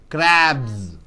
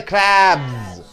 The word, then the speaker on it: crabs: mouth right crab plus yes how do you pronounce crapless yes crabs see everybody together crabs crabs next M plus s is equal to